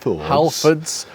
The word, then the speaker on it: Halfords: How we pronounced Halfords or Halfords. Halfords.